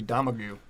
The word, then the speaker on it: Domergue: I definitely wrote the last name wrong, but it's Daisy Domingray. It's Daisy Domergue.